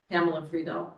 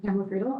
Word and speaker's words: Pamela Friedel: now, let's just quickly go around, starting with Pamela Friedel. Do I have the pronunciation You right? do. Yes. Pamela Friedel, I've been in Pembroke since 2000.